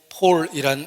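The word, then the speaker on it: Paul: 바울을 영어로 폴이라고 발음하는데 서양 사람 이름 중에 폴이란 이름이 많은 것은 얼마나 많은 사람이 바울을 존경하는지를 나타내는 것입니다.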